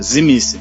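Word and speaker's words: Tzimisce: esse aí esse aí tem a pronúncia no livro terceira Edição risada é zim esquece o t esquece o t zim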